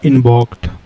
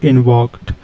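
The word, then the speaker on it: invoked: हमारा जो पहला वर्ड है वो है हमारा इन्वॉक्ड। क्या है हमारा फर्स्ट वर्ड? इन्वॉक्ड। इसको प्रोनाउंस कैसे करेंगे? इसको प्रोनाउंस करने के लिए हम इसको बोल सकते हैं इनवॉक्ड।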